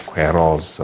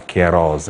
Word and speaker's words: Queiroz: Some tactical changes were made by Carlos Queiroz, or Queiroz, I'm told us he wants his name to be pronounced.